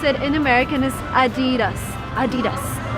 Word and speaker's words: adidas: and it's called adidas you probably called it adidas or something else but the correct way to pronounce it in american is adidas adidas a pair of adidas a car